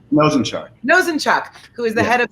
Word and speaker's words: Nosanchuk: by jacob as well as by matt not nozanchuk nazenchuk how do you say your last name mosenchart nosenchuck who is the head of the new york